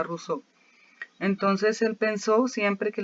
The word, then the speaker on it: Rousseau: Se escribe Rousseau, pero se pronuncia Rousseau.